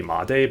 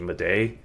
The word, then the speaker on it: Made: Apparently, it's supposed to be Made, but he said it's actually Mday.